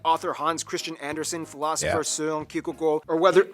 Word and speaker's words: Søren: Hans Christian Andersen, philosopher Søren Kierkegaard, or whether... Can you pronounce his name? That's actually how you pronounce his name. Wow. It's not Søren Kierkegaard. It's...